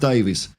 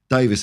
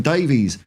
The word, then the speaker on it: Davies: Paul in Wales Paul it's pronounced Davis Davis and being Welsh you can take that to the bank okay wow man i'